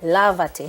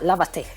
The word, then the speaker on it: lávate: If I don't put a tilde here, or the accent right here, you would not get the pronunciation. So we want it to be lavate Yes. and not lavate. See, So- we want the stress. Right, we want to maintain the stress Exactly.